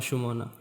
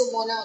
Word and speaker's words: Sumona: So, who is Sumona, and do you spell it like Sumona or Shumona? No, it's Sumona only.